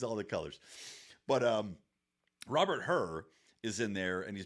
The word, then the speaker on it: Hur: Hur? Yeah, H-U-R. And I'm guessing it's spelled like, or pronounced like Ben Hur.